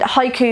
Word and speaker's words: haiku: looked at haikus and haiku is a japanese form of it's haiku there's no s on it haiku is a japanese